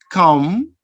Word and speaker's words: calm: And double M, we have summer, MB, calm, MN, autumn. Remember that this letter B is silent, and the second one, the letter N, is silent too.